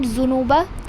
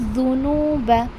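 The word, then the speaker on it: ذُنُوبَ: It is not zunuba, it is dhunuba.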